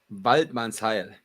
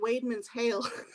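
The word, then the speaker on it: Waidmannsheil: Waldmanns Heil. Waldmann's Heil. And that's how people in the forest greet each other. Right. Like I was pronouncing it Weidmann's Hail.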